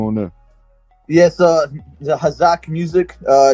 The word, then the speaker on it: Hazok: butcher the name and all uh is it hazard is that how you pronounce it uh especially the hazak hazak all right excuse me how's that um